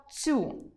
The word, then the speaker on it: цю: Третє порушення – це вимова слова «цю», де «ц» має звучати м’яко перед наступним йотованим: .